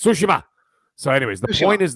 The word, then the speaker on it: Tsushima: G of sushima okay and that's how you pronounce it by the way it's sushima so anyways the point is this if I